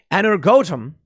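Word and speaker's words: Energoatom: military seized the plan energotum is how you pronounce it ukraine's nuclear power operator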